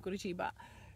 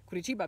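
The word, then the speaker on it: Curitiba: that was going on in the center of guru chiba kurichiba because that's the right pronunciation i started to curse in polish and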